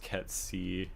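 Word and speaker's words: Cait: to it I just think that maybe they kind of like set themselves up for a lot of difficulty later especially when they're trying to complete the oh Kate Sith which I guess is pronounced KY technically Ki in the gaic but you know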